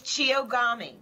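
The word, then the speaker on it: chiyogami: going to ask Beth it's a it's Chio gami oh so it's yeah we were we thought that but then we thought it's bound to be pronounced differently to how it's word how it's written um so tell us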